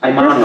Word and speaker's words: honored: I'm honored. Perfetto. Yes? Perfetto, Joe. So, come un A as opposed to Yes. H-O. Esatto. Pronounce it. Ah, So not honored. honored, I'm honored.